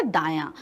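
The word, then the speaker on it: दायाँ: तो दाया को आप बोलिए मुंह से 2-3 बार प्रोनाउंस करिए, दाया। क्या आ रहा है, दाया। तो दा के ऊपर हमारा अनुनासिक निकल रहा है, तो सही क्या है, पहला वाला हमारा दाया।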